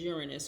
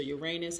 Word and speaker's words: Uranus: The latest one to go retrograde is Uranus, or Uranus, however you want to pronounce it.